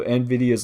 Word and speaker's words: Nvidia: And so NVIDIA's logo, of course, you got the green going, and you have an eye with a spiral-looking thing.